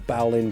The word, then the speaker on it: bowline: So the Bowline is arguably, or Bowline, depends how you pronounce it, but is arguably probably the most used knot in the world.